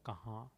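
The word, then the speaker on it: कहाँ: Ha, nasal. The M needn't be pronounced as rather kahan.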